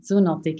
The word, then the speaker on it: Zoonotic: other book influencers but now your third book zuntic do I pronounce that correctly yes exactly zuntic is perfect what's it about it's it's it's